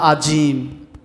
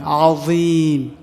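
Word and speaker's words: عظيم: আস্তাগফিরুল্লাহাল আযীম, য অনেকে বলে আজিম, আজিম না, জিম না, এটা য নরম হবে, আযীম।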